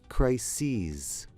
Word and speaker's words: crises: pronunciation of crises well crises of course is the plural of crisis crisis crises anyway I digress with